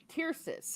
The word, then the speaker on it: Tyrsis: of the way, so we are now at Tyrsis, I think is how it's pronounced. Yes, Tircis.